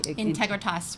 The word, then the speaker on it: Integritas: Integritas Resources. Integritas Resources. Yeah. So it's Latin.